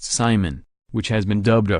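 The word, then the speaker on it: CIMON: But the scariest part of the payload is a German robot named Simon, pronounced Simon, which has been dubbed a flying brain.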